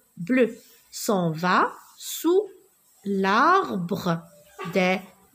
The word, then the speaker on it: bleu: Non, je ne la prononce pas U. E. Regardez, E, bleu, s'en va sous l'arbre des écureuils.